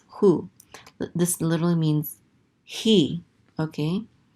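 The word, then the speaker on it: הוא: Anyways, this says u, and this aleph is silent. This is hu.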